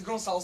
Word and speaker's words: Gonçalo: is Gonçalo. That is spelled G-O-N-C-A-L-O, and weird name word spelling comes from the fact that I am in fact from Portugal.